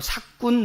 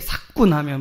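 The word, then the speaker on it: 삯군: 그것이 뭐냐면 바로 삭군 목자라는 거예요. 발음을 좀 잘 하셔야 됩니다. 세게 사꾼하면 뭐 사기꾼 목자 뭐 이렇게처럼 여러분 느껴지는데 그런 의미가 아니고 헬라어로는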